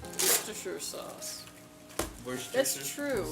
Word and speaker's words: Worcestershire: I've heard it say Worcestershire or Worcestershire, but it's Worcestershire? not Shire. It's a sure.